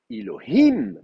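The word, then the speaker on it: אלוהים: L'accent va donc être sur le I final. D'accord? Elohim.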